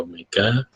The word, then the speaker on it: omega: transfer lambangnya HC Omega ini dibacanya Omega bukan W ya ini HC Omega merupakan suatu integral dari